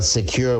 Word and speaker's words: Sekur: Well, Secure, which is spelled SEKUR, is our email and messaging application.